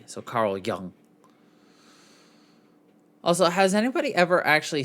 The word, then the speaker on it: Jung: at carl jung or zhong but the j is pronounced with a y so carl young also has anybody ever